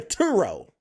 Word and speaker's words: Truro: no it's not turo because it's not Tu it's TT so turo turoo but there's no two there's not two T's one fast T Truro Truro there you go worse